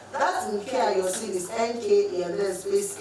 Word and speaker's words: Nka: That Nkea you're seeing is NKA and then space A. Alright? So I just took away the A, the E for easy pronunciation.